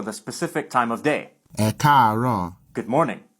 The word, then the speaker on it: ẹ káàárọ̀: Note that if there's more than one tone in one syllable, then the vowel is normally written once for each tone. These 3 A's are all part of a single syllable, but with a high-low-high progression.